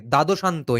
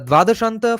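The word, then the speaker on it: द्वादशान्त: Okay, dadoshanto in Bengali we would pronounce it as dvadashanta, because dvadash means 12. The dvadashanta for internal kumbhaka is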